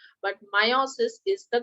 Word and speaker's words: meiosis: topic for today is meiosis some people also pronounce it as meiosis but meiosis is the correct pronunciation all right let's go